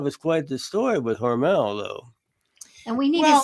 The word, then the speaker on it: Hormel: Although most of us know it as Hormel, But it's as I Hormel. understand from everybody in Austin, the family pronounced it Hormel.